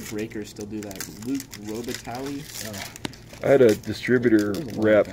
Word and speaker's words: Robitaille: in it I think my wife pronounced Robitaille like Robert E later first up Robitaille come on hunter breaker still do that Luc Robitaille I had a distributor